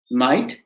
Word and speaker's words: knight: i g h d knight where the k is silent it goes like n